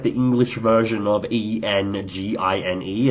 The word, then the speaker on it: Enjin: Now, it's not spelled like the English version of E N G I N E. It's got like a Japanese spelling. It's like E N J I N. Um, so it's probably pronounced more like engine, but it I realize